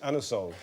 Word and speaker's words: Anusol: after the king 1781 you can't ask for um anusol in that way in in a shop you have to pronounce it anol it's a slightly embarrassing